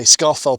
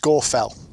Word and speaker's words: Scafell: of people would say Scarfell Pike and Scarfell. But they would in fact be incorrect. It's actually pronounced Scorfell.